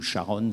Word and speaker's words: Charon: champ de l'actualité par Rita Charon, ou Sharon selon qu'on la prononce à la canadienne, autour d'une expérience pour